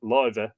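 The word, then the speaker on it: lámh: Hand Stone Love genitive lover the hand pronounced love or the SSS lay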